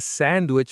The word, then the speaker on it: sandwich: I have a sandwich for lunch. The word sandwich. Sandwich. stress on the first syllable. Some people say sandwich in fast speech, but let's practice clearly.